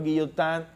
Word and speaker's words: Guillotin: doctor y yo tan en francés la combinación al final y n se pronuncia el doctor guillot and fue quien diseñó este